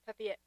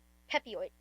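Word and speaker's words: Pepiot: There's going to be a mountain visit here for Pepette. Is that the correct uh pronunciation? I think it's Pepid. Pepid. Pep. Yes. Or Pep.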